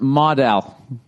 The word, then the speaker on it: modal: Uh note Modell is p pronounced modal.